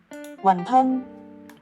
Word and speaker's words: Wonton: Bien que l'essence n'ait pas changé ( Wantun et Wonton ont la même prononciation, Wan tan), Wonton a progressivement développé